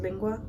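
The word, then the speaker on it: língua: supposed to pronounce this i think i said linga instead of lingua but it wasn't that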